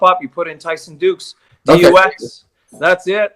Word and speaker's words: Dux: And so he was Frank Dux in this, and it's spelled DUX. And then that was also brought up in the movie. Oh, Frank Dux.